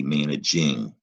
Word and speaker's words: managing: And to make managing, we're going to drop that silent E. Here's why it's tricky. It looks like manag now. That is a soft G. So if you add ing, You have to remember that is not managing. It's still that soft G, managing.